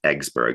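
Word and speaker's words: Yggsburg: develop the city of Iggsburg, or mm. which he pronounced Eggsburg, sort of one of his many puns. It's because it's YGG. He pronounced it egg.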